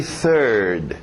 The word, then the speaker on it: third: TH de sapo, novamente, third.